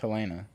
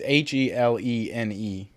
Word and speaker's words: Helene: Why would it not be pronounced Helena? Like, what is the difference? It's Helene.